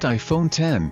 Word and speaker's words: iPhone X: unveiled the much anticipated iPhone X pronounced iPhone 10 Cook said we are